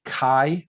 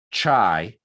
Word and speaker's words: chi: here uh chi squared this is pronounced like the letter k so it's not chai or shy like chicago it's a hard k